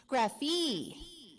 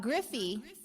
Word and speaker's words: Graffie: Graffie. Not Griffey, but Graffie.